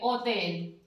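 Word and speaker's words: hotel: एच अगर हम इससे कोई शब्द बनाएंगे, जैसे मैंने बनाया होटल, तो हम इसको एच का जो बोलते हैं ये बन तो होतेल दिया, लेकिन इसकी जो ध्वनि है वो साइलेंट हो जाएगी, इसको बोलेंगे ओतेल, ओतेल।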